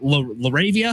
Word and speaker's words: LaRavia: Uh, but you look at last night's game and what, Laravia, is that how you say his name?